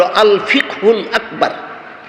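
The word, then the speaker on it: আল-ফিকহুল আকবার: কিতাবের নাম আছে আকবর এটার সঠিক উচ্চারণ হল আলফিকহুল আকবার সংক্ষেপে বলা হয় ফেহে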